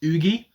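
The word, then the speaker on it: Yuqi: I was told it's Oogie. If it's Uki or something like that, I apologise, but I was told Oogie, so that's what I'm going to go with.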